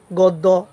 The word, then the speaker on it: গদ্য: থাকে জ ফলা থাকে তাহলে অ এর উচ্চারণ ও এর মত হবে যেমন আমাদের এই যে গদ জফলা প দ ফলা গ দ্য প দ্য এভাবে যদি তোমরা বলো আসলে এভাবে তো উচ্চারণ নয় এটা হবে কি উচ্চারণ হবে গদ্য পদ্য অর্থাৎ গ ও